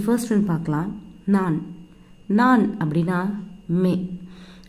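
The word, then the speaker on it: मैं: நான் அப்படின்னா மே. Actually my அப்படின்னு ப்ரொனவுன்ஸ் பண்ணக்கூடாது, மைம் அப்படின்னு சொல்லக்கூடாது. அந்த இம் வந்து சைலண்ட். ஜஸ்ட் நீங்கள் எப்படி ப்ரொனவுன்ஸ் பண்ணணும் அப்படின்னா மே.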